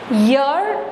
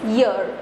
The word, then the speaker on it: year: So guys, now see, year, the pronunciation of this word is year. Okay, it's not air, it's year, right?